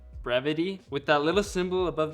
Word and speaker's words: Brevite: Turns out it's pronounced Brevity. So sorry to everyone who I said Brevite.